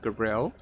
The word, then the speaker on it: Gabrielle: That's how I pronounce her name, Gabrielle.